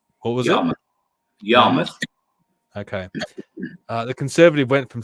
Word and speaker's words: Yarmouth: If I pronounce it wrong, what was it? Yarmouth.